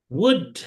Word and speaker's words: would: Ini dibacanya would gitu aja ya. Enggak pakai L. I would like bukan I would like.